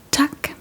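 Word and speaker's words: tak: It is tuck which simply means thank you.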